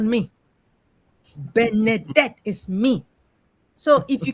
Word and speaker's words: Benedict: But when it comes to my own name, uh since I noticed that a lot of people don't know how to pronounce Benedict, they in their mind they say Bernette.